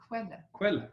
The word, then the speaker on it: Quelle: Quelle.